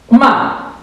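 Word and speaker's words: mà: minha aluna, é que a pronúncia do quarto tom é como se fosse uma martelada, é com tudo, né? Então vai ser assim, ó. Ma.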